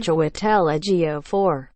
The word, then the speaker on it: Chiwetel Ejiofor: Chiwetel Ejiofor.